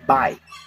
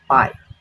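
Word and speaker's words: 百: So 100 in Chinese is Bai. Bai.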